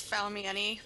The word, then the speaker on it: Faumieni: It's Faumieni. Most people just call me Fau. Faumieni?